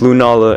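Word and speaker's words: Lunala: guys who do you or how do you pronounce their name I know it's Lou Nala and like so glial is like so Galileo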